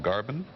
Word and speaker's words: Garbin: for a company called Garbin. That's correct. Did I pronounce it correctly? Yes.